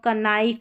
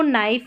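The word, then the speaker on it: knife: के और एन के कॉम्बिनेशन में के साइलेंट रहता है। जैसे कनो कनाइफ या कनी ऐसा बिल्कुल नहीं पढ़ते। नो नाइफ नी इस तरीके से के को पढ़ना नहीं है।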